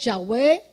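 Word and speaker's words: Yahweh: o menos tú sabes en hebreo uno dicen Jehová no es y tenemos que estar Claro que Jehová no es el que más se le hacee es yahwe escuché una vez a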